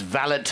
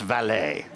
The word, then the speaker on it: valet: that he said we're not parking cars it's valid not valet so that was the first lesson but no